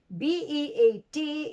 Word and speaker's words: beat: e and the e look at the spelling b-e-a-t is beat and b-i-t is bit so you don't say i'm going to bit the drum but you're going to beat the drum i'm going to beat